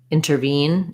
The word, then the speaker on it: intervene: and for intervene intervene i can either say intervene or intervene and so for the veen ending you have the i would rewrite it like this intervene or inner twine i'm not going to really re-spell twine because it's going to be just the same like wine twine um yeah i